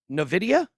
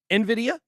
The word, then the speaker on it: Nvidia: her biggest investments recently i hope i say this right novidia yeah did i say it right right for you you never remember nvidia that's right that is right nvidia uh and guess who's